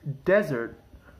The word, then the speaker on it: desert: do you pronounce them well this word is pronounced desert while this word is pronounced dessert can you